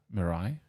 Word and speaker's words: Mirai: don't even know how you know how you pronounce it myra m-m-i-r isn't that miranda mariah mirai yeah right yeah there you go it looks